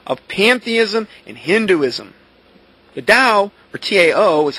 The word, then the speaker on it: Tao: Similar to the impersonal god force of pantheism and Hinduism, the Dao or TAO is how it's spelled is composed of the conflicting opposites, the